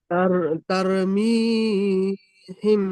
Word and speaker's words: ترميهم: ترميهم بحجارة من سجيل. সুন্দর পড়েছেন, বানান করবেন। তার অজব তার, মিম ইয়াজের মি, তার মি, মিম হামিম ইয়াজের জের মি, ইয়া মাদ্দা একটা টান দিয়ে পড়তে হবে।